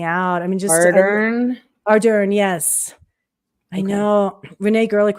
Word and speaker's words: Ardern: Ardern, yes.